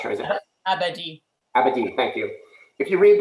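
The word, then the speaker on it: Abadie: Abadi, thank you.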